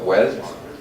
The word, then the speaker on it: wealth: that is dealing with wealth and i've already just been told that i would should be ironically about the way i pronounce wealth because we italian never put the third at the end so sorry for that